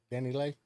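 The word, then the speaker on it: DaniLeigh: this is coming from the Danny Lay footage. Wait, how you say her name? Danny Lay.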